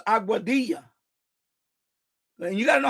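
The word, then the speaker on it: Aguadilla: So, there's certain towns he called it instead of saying Auadia, he said Auada. He was way off cuz I know it's Auadia.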